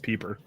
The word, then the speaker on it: Piper: that my na name is actually pronounced peeper oh yeah you probably